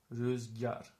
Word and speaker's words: rüzgar: This is pronounced rüzgar, rüzgar. So it's actually like this, rüzgar, rüzgar. Okay, rüzgar means wind.